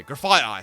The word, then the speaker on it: Grafaiai: I think it's Grafaiai. Oh, yeah, Grafaiai, sorry. I had that extra F in there accidentally.